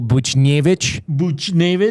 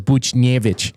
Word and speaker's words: Buchnevich: Well, you hear Jack Michaels pronouncing Pavel Buchnevich. Like I know in the pronunciation guide it says like the emphasis on the nay, but you could tell he goes Buchnevich.